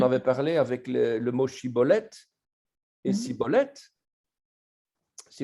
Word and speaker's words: shibboleth: l'exil hadid qui disait shibboleth et les effraye me disaient nos recettes contraire les effraye me disait jean cholette et les gilad dit il ça il avait un défaut de prononciation et disait ciboulette ces belles étincelles faisait